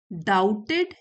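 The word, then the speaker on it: doubted: the same people who once डाउटेड हिम डाउटेड B silent है वही लोग जो एक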